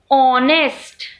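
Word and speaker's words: honest: कि हम वोवेल बोल रहे हैं, जैसे आवर, ऑनेस्ट, ऑनरेबल। अब कैसे बेटा? देखिए, आवर, आवर में हम हावर नहीं बोल रहे, एच साइलेंट होता है, तो हमको क्या सुनाई दे रहा है?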